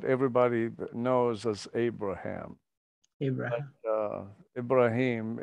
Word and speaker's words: Ibrahim: Ibrahim, it's the pronunciation of Abraham in the Arabic speaking world.